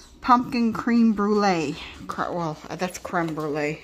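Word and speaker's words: crème brûlée: Well, that's creme brulee, it's pronounced.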